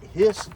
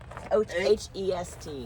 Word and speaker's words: Hest: But I'm telling you, these, how do you say it? Hist or heist? Or I'm not sure. H-E-I-S-T. H-E-S-T. H-E-S-T.